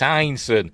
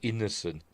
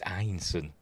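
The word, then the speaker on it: Ineson: And it's Einson. I've heard people pronounce his surname as Innocent. Don't know why they pronounce it like that. It's Einson.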